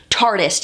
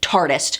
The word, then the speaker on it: Tarteist: they're keeping it but they do want us to pronounce it tartiest if you watch the